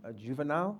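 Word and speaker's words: Juvenal: v n l thank you my name is henal I come from Ventura County and I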